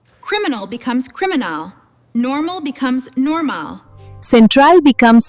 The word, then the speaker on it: criminal: You just had to shift the musical stress of your voice to the final syllable. Anime-L, criminal, central.